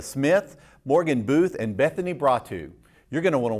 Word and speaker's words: Bratu: And, well, how do you pronounce it? Bratu. Bratu.